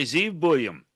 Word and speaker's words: Zeev Buium: Welcome back to 100% Kucks with Landon and John joined by Zeve William. Did I pronounce that right, Zeve?